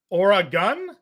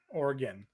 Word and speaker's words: Oregon: the fine state of Oregon Oregon Oregon Oregon not Oregon Oregon Oregon Oregon organ or an organ like a body organ basically like an organ